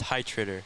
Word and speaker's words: Heitritter: pretty long it's uh pronounced hi trader hi trader yeah okay i was going